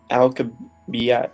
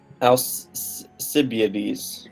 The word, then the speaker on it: Alcibiades: for the planned invasion Athenian generals do not pronounce that alka biet and sorry nothing else abilities possibilities possibilities yes Alcibiades the ADIZ okay Alcibiades okay it was a